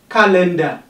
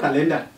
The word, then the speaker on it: calendar: Suitable, erudite, parvenu, educate, editor, counselor, cardigan, comfortable, calendar. Please take note of that, it's not calendar. Calendar, car is stressed.